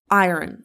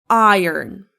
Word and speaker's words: iron: For instance, he pressed his shirt with an iron before the interview. Okay. Not iron or iron. It's iron. Iron.